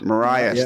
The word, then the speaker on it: Marias: out there when just I think it's Marias Marias that's it thank you seven minutes